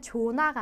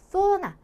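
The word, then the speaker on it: zona: 그래서 얘 같은 경우에는 조나가 아니라 소나 소나 이런 식으로 발음을 해주셔야지 정확한 소리가 된다라는 것을 보실 수가 있어요.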